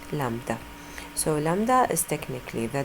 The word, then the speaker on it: lambda: this wavelength a letter similar to an upside down why okay we pronounce it lambda so lambda is technically